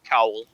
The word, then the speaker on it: cowl: It's spelled C-O-U-L, cowl.